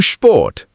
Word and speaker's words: Sport: SP is equal to SHP. Sport is equal to Sport.